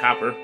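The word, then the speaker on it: Cowper: blood availed for me the melancholy william uh copper yes there is that william copper again whereas uh it's spelled here calper however you want to say it calper or copper that's how it's pronounced as copper amen so the melancholy william copper wrote there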